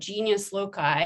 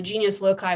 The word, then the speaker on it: genius loci: spirit of place which the romans called genius loci i believe that's how it's pronounced i'm not a latin